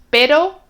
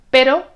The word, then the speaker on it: pero: Prueba a pronunciar y ver si ves la diferencia. Caro, carro. Pero, perro.